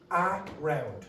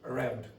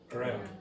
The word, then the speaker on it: around: Now, if it is weak, it will change pronunciation. It will not be pronounced around. Nobody does that. So it will be pronounced with Now, not strong. It's going to be quiet and it's going to be quick. So we'll say around, around, around.